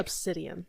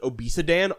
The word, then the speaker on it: obsidian: obsidian like obsidian. I have no so if I'm not thinking about it if I'm just reading it and not thinking I pronounce it obesidan always.